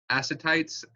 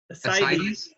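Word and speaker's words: ascites: my presentation is on aites asites and lymphadema asites okay I've been pronouncing it wrong asites and lymphadema okay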